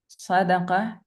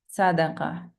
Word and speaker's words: صدقة: صاد as in صادق, صدقة, usually wrongly pronounced as صادق, صدقة. The difference.